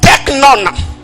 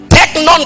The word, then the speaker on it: teknon: Deuxième chose, à part teknion, nous avons teknon. Teknon qui s'écrit comme T-E-K-N-O-N.